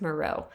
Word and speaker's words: Maroth: Or it's spelled Maroth, but I believe it's pronounced Moreau.